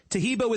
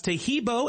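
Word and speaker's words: Taheebo: Tahibo is spelled T like Tom, A-H-E-E-B like boy. Oh, that's Tahibo, and then continue with the word tea and then the word club.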